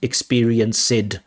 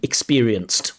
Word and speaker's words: experienced: These ed endings, they really struggle with them, right? They pronounce, not all, but very often, even high-level candidates from Uzbekistan produce id sounds, experienced, used, things like this. Experienced with a t sound, experienced.